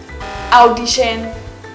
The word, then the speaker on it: audition: Audition, which should be audition. Audition. The AU letters here are pronounced as or instead of ow. Many Vietnamese students often get this wrong.